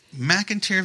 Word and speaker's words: McInteer: to us about your experiences and uh the McIntyre Villa that's how you pronounce it correct yep yep okay all right